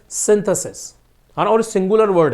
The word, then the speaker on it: synthesis: क्या होता है सिंसस बड़ी ई की मात्रा और इसका होता है सिंथेसिस यानी कि छोटी ई की मात्रा ठीक है अब पॉइंट